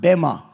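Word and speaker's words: bema: everyone say Bei be in the Greek it's pronounced bemma and that judgment the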